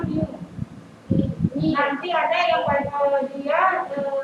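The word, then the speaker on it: μ: Kalau ini bacanya mu.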